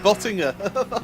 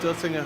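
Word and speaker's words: Döttinger: I think, like Cisco said, I think his best bet will be down the Dottinger straight. Which straight? The Dottinger straight. There you go, yeah. I said it right. I said Bottinger.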